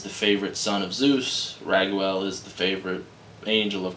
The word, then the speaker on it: Raguel: I always think of Ragu when I say that because it's spelled R-A-G-U-E-L. But Raguel. It's probably like, no, Ragael would be different. Raguel. It's fucking Raguel.